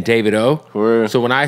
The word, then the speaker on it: Davido: and by the way David O is how you say his name oh yeah I say